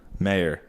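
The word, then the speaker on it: Maher: yeah Ben Mah yeah how do you say his last name Mah maybe Bill Mah Ben Mah Mah ma h e r mayor mayor it's m I think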